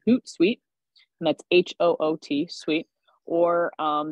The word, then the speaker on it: Hootsuite: Gretchen, can you spell Hootsuite Yes. What are some of the platforms that connects? I'll put it in the chat, but you spell it as Hoot, like an owl, and then suite, Suite.